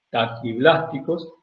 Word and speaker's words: taquiblásticos: unos huevos que se llaman taquiblásticos. Taki o tachi. Tachi se se escribe y se dice taquiblásticos que de cáscara muy blanda y esos explosionan rápidamente y se originaan.